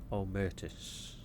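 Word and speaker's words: Omertas: okay well we can check on the omus that's how you pronounce it omus the eras are fanatically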